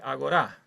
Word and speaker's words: agorá: En griego en realidad se dice agorá con el acento en la última. En castellano le han cambiado el acento, pero la palabra es la misma palabra griega.